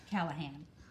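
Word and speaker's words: Callaghan: Callahan. Callahan is how you would pronounce that.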